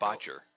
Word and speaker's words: Bacher: That's a CH, not a K. My bad. I couldn't read my own writing. Like, Bacher.